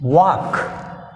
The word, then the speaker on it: walk: Here next 21, walk. What is the word, walk, l is silent.